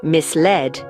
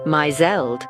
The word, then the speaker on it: misled: when you discover that the word misled isn't pronounced myel and let's not forget